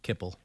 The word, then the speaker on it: Kipple: Kipple. Yeah. Rhymes with nipple.